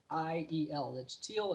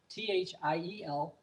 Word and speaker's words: Thiel: But again, my last name is spelled Thiel. It's Thiel. It's pronounced differently than it sounds in English, Thiel.